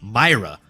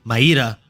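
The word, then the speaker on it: Mayra: to maira Bueno Silva I had been mispronouncing her name as as had most of the populace and saying Myra apologies apologies it is apparently maida Bueno Silva so put some respect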